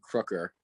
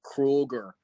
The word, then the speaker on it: Crooker: uh for the guys all call me crooker but uh he can't pronounce it for whatever reason so like he would call me krueger so that was kind